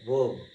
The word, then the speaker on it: verb: Nothing but action, verb, R silent, verb, while pronouncing it R silent, verb, that called action.